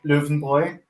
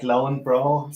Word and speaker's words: Löwenbräu: And many people in the States know at least the German pronunciation is Löwenbräu. But I think the Americans say it's more like Lauenbrau, something like that.